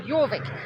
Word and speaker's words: Jorvik: Well, Yorvik, they're made in York. York. Um, spelled with a Y, not a J, but because they they place Oh, I hate motorbikes.